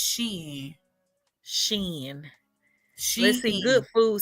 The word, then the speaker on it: Shein: How do you pronounce it? Is it Shein? Yes. Because I always hear people say that. Yes. Honey, I say Shein.